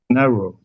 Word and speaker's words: Nehru: Nehru? Is that how you say his name? Nehru? Who? The Indian Prime Minister, Nehru. uh, Nehru, yeah, and Okay.